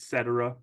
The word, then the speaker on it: Cetera: We're now with a company, some of you know this already, called Cetera, which is like et cetera, but pronounced Cetera, Cetera.